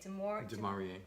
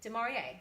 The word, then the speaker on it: De'Maurier: Demarie. Demarie.